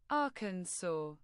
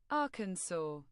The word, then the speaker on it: Arkansas: Arkansas. This is exactly how it's pronounced. Arkansas.